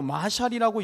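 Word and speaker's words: מָשָׁל: 이것은 원어로 마샬이라고 읽게 되는데, 이는 간결하고 짧고 감결한 대중적 담론을 의미하는 말입니다.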